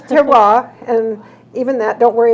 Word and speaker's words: terroir: We've been called Terrier and Terror, but it's terroir, and even that, don't worry about the pronunciation, just get there.